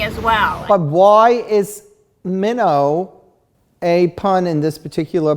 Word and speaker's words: Minnaugh: book and and grace minnow is spelled mino is spelled m-i-n-n-a-u-g-h but it also there's another type of minnow too right there's a fish minnow yes it's a minnow which